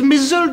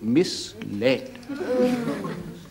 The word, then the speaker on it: misled: for me how do you spell it m i s l e d so that is misled in it oh indeed to my goodness look you and here is me in my ignorance always pronouncing it misled say it Morgan misled